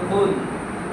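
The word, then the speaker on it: قل: সূরাটা সবচেয়ে বেশি পড়ি সূরা ইখলাস, বলতে হবে কুল, অর্থ হবে বলুন, আল্লাহু আহাদ, অর্থ হবে হে নবী আপনি বলুন আল্লাহ এক। কিন্তু আমরা এখানে কুল বলতে চাই না, অনেকে জানি না, আমরা সোজাসুজি কুল বলি।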